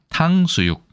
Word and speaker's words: 탕수육: 원래는 당이나 탕이나 다 되는데 특히 중국어 발음을 가져왔죠. 원래는 당으로 읽어야 되는데 중국어로는 탕이라고 하기 때문에 사탕, 사당이라고 안 하죠. 그럴 때 중국어 발음을 그대로 가져와서 쓰는 것으로 알고 있습니다.